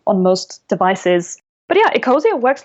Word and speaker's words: Ecosia: Ecosia? Ecosia.